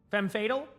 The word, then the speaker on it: femme fatale: Is it Femi Fatale? I always say that one wrong. People say it sometimes. Fem, so fem, and then fatal. Fem fatal? Now I know.